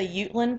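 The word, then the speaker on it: Jutland: as they come up first one is the utland peninsula it's spelled j u t l a n d it's spelled like jetland but it's pronounced you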